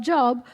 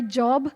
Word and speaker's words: Job: I mean, why would Satan do something to Job if he was, I know that my job is J-O-B, my pronunciation there might be too British, Job, book of Job, J-O-B.